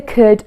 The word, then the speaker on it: could: And for could, we just don't pronounce that L.